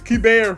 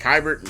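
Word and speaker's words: Keibert: I've been butchering our catcher's name, though. It's Kiber Ruiz. And right now, he's not off to a good start, but yeah, I've been saying like Kybert.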